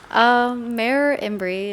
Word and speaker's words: Mer Imbri: Mayor Imbri is short for Mare Imbrium, which means it's a name for a lake on the moon.